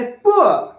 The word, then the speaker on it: poor: जैसे कि पूर है, POOR, पूर पूर बोलते, बट एक्चुअल प्रोनाउंसिएशन क्या है? पुअर पुअर. That is ही इज अ पुअर guy, they are पुअर, उसको पुअर बोलते हैं.